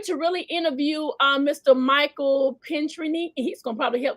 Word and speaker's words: Pinchney: It's Pinchney, as if your knee was pink. Oh, Pinchney.